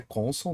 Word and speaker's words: console: A pronúncia é console, né? Console, tá?